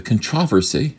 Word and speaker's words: controversy: The controversy, I'm gonna pronounce it this way. The controversy, I like that. That's the British pronunciation.